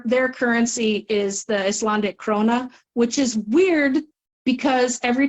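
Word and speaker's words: króna: currency is the Icelandic krona which is weird because every time somebody mentioned money I thought they were calling my name because they don't really pronounce the k it just comes out Rona hello hello yeah what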